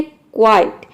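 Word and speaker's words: quite: यहाँ पे देखिए QU का हो जाएगा क्वा क्योंकि वर्ड के शुरू में आ रहा है और यहाँ पे आई को हम आई प्रोनाउंस करेंगे। टी का हो जाएगा ट, ये हो जाएगा क्वाइट। यहाँ पे वर्ड के लास्ट में ई आ रहा है इसलिए यहाँ पे ई साइलेंट है।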